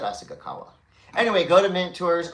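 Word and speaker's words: Asahikawa: Asagawa. Yeah, that's fine. Well, what did I say? I thought I said Asagawa.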